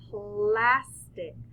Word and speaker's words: plastic: right up in here that is pointing to the first syllable because we say plastic.